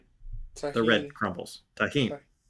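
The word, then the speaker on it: Tajín: It's a coconut panakotta filled with chammoy pineapple bits topped with mango topping and tahin. Am I pronouncing that right? The red crumbles. Taheen.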